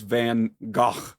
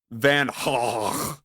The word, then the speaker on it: Van Gogh: I thought it was Van Gogh, but no, apparently it's more like Van Gogh.